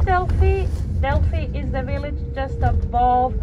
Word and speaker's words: Delphi: the same o i in Korea Greek you would read delphoid but for us oh and I already found they're pronounced together and they produce an e sound so we say Delphi in Greek velfi Delphi so that's the plural